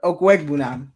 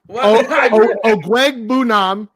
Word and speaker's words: Okwuegbunam: Pronounce that name. Always and forever, Okwuegbunam and Ogunwale. Okwuegbunam and Dare Ogunbowale.